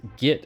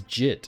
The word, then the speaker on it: git: recently heard schizek I recently heard someone pronounce git as jit again then I'm very sorry